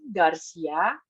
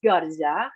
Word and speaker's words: Garza: Garcia. Actually, it's Garza.